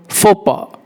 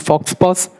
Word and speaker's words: faux pas: Next word, faux pas. It's not fox pass, it's faux pas. Faux pas. X and S is silent.